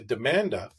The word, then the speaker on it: Demanda: This young attorney in Miami actually changed her last name to Demanda, because it rhymes with Amanda, but it also means legal demand and lawsuit.